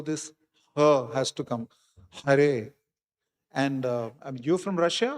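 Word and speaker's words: हरे: Hare. And um you from Russia or which part of CIS? You from Russia itself? So there are many Russian devotees who struggle to pronounce the ha. They say ka.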